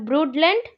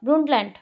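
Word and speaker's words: Brundtland: द ब्रूडलैंड report, ब्रूंटलैंड report, D pronounce नहीं होगा, ब्रूंटलैंड।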